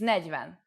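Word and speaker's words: negyven: time for Olivia's tips make sure you pay attention to the pronunciation for example 20 is whose with a long u but 21 is who's on edge with the U pronounced short four is need but 40 is negiven after only two lessons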